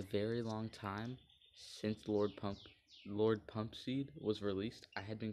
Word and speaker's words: Pumpseed: long time since Lord Pumpseed was released, I had been calling him Lord Pump Co Seed. And then in my comment section, someone let me know, hey, that's you've been saying his name wrong.